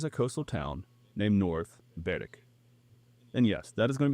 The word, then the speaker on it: Berwick: 20 miles east of Edinburgh along the f of fourth lies a coastal town named North Beric. And yes, that is going to be the last time I pronounce this in the Scottish way.